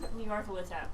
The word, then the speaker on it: Nyarlathotep: god's name is Nyarlathotep. I can't say it, but she says it right. Nyarlathotep.